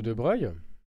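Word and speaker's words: de Broglie: Passons maintenant à la relation de De Breuil. Alors relation de De Breuil. Alors de Breu en fait ça s'écrit de Brogl mais ça se dit de Breuil.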